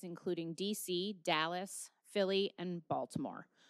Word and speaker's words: Baltimore: DC Dallas Philly and Baltimore or if you say it correctly Baltimore a respected academic with